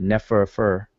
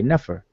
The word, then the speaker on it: nefer: those three signs now we don't pronounce it never fir we don't you know we don't repeat the F in R we just say never because the other two